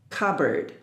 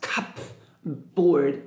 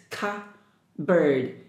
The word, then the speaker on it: cupboard: about this word cupboard letter p is silent nope sound you cannot pronounce cup board no it's Ka bird here o a r d ERD cupboard you know just like the bird let the bird told me bird so cupboard iron iron